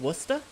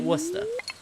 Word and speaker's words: Worcester: Worcester. I see, and the way I'm pronouncing it is the British pronunciation, actually.